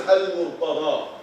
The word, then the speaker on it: al-Murtada: But in Arabic is al-Murtada.